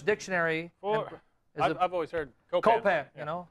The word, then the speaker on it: Copan: I've always heard cop Copan you know C okay very good like Peter Pan anyway uh there's some